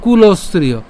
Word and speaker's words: কুলস্ত্রিয়ঃ: এরপর কুলস্ত্রিয়, কুলস্ত্রিয়, এখানে আমরা কি করলাম? দন্তস্ব পর্যন্ত উচ্চারণ করছি, তাহলে হচ্ছে আমরা কি দাঁড়াচ্ছে? কুলস্ত্রিয়, অর্থাৎ কুলস, এরপরে কি থাকে? ত্রিয়, আর যেহেতু বিসর্গ আছে আমাদের অবশ্যই উষ্ম ছাড়তে হবে, তাহলে কুলস্ত্রিয়।